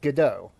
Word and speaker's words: Godot: So it would be pronounced guo or god do if you want to be very correct. Go do can right off. Okay. That's what I thought. I've been calling it gdau.